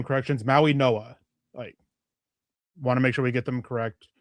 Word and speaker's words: Mauigoa: I've always thought it was Mauigoa. I've heard Maui Noah, but thanks for the clarification on that.